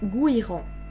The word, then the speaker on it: Gouiran: Il y a marqué Gouiran se prononce comme il s'écrit et pas Gourian ni Gouiran. Donc c'est Gouiran. Voilà.